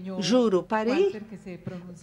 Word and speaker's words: Jurupari: com uma palavra fiebre Jurupari Jurupari Walter me disse que é assim que você produzida se pronuncia em português para é uma lenda